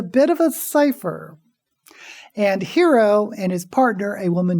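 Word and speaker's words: Hiro: name of the main character is hero that's spelled like the Japanese first name h r o and the last name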